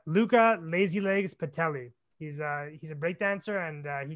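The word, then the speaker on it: Luca Lazylegs Patuelli: So yeah, if you did want to check him out, because sometimes Brad's device doesn't have the best pronunciation, it's Luca Lazilegs Pedaly.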